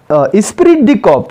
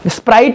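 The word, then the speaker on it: esprit de corps: ये प्रोनाउंसिएशन का बहुत ही सही विषय हो जाता है बहुत सारे बच्चों के साथ। चलो बोलो तो एक बार, क्या? Principle of स्पिरिट द कॉप। स्प्राइट नहीं, वो क्या है?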